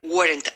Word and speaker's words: weren't: If your mother weren't Irish, you wouldn't be Irish. I'll try to make one syllable of weren't.